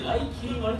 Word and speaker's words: 雷切丸: 名の通り雷を切った刀と書いて雷霧丸と呼びます。